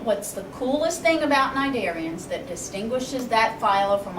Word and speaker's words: cnidarians: going to be the Lila nidarians all right cnidarians the sea is silent well what's so unique about cnidarians you can you've experienced them if you have